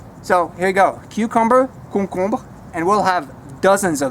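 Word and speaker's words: concombre: koo kumba Hong Kong so the first two syllables are the same thing you just repeat it and at the end again a little bit of ER but it's pretty close to cucumber koo kumba we've got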